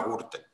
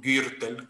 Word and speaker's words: Gürtel: En el caso Kitchen, que creo que está dentro del Gürtel o Gürtel, que, pero vamos, para no ser pedantes no lo vamos a pronunciar en alemán.